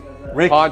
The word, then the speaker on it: pawn: So guys, as promised, we are now in the very famous porn shop. I know I said it wrong. Pawn shop. Yeah. Yeah. The British just for some reason can't pronounce it.